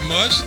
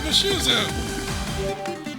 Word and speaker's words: Mushu: going to go crazy it's not mush it name is Mushu which I can't even